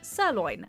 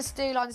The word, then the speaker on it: sirloin: not the glove again she also mispronounces sirloin and loses track of which steak is supposed to be which something a stew line steak a what sorry